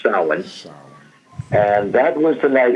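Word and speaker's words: Samhain: Celtic regions it was called um sa it spelled like Sam ha but it's pronounced sin s and that was the night it was thought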